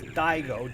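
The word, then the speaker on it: Daigo: It is dao d a i g o and not which uh if you're of Italian descent that is not a uh a complimentary epat.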